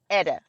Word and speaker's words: Ida: So They pronounce Ida Edda, and I was like, oh, Edda.